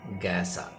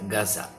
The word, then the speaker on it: Gaza: is to concentrate on gasa gasa or as the Arabs pronounce it Gaza uh variations in pronunciations the Arab pronunciation is Gaza the American pronunciation is gasa the Indian presenation is gasa so it doesn't matter